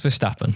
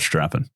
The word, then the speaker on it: Verstappen: Max Verstappen. Stappen. Not strapping.